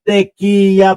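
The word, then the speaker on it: Tiquia: Si Malu Tequia. Una ho kasi nagkakamali ako doun sa pronunciation ko nung apelido niya eh. Ngayon Teya pala 'yung uh pag-pronounce don sa kaniang apelido.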